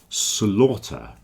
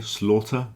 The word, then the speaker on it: slaughter: compound is Slaughter House Slaughter it rhymes with a daughter okay Slaughter daughter have the same pronunciation but not laughter you see laughter is